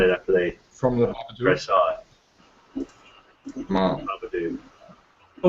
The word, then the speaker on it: Babadook: Am I saying it right, Babadook?